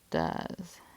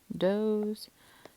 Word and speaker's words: does: our first red words, because it sounds like d, z, does. So a lot of things here breaking our rules. That's why it's a red word. I see it misspelled like, like this quite often. Which would make sense because it's in between two vowels, but then it's my long O sound, doze.